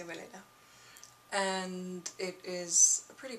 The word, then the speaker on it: Weleda: I don't know how you pronounce it in English, but I say Weleda.